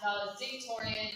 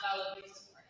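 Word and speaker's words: valedictorian: a week ago that it's apparently pronounced valid dictorian and not validor I probably should have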